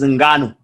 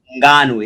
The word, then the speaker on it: Ngannou: How do you pronounce his name properly, blood? Francis Ngannou. Francis Ngannou. Ngannou, yep, Francis Ngannou. I hope I'm nailing it.